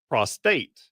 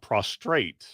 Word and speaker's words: prostate: a pro prostate condition it is not prostrate but prostrate's a good word it's when one of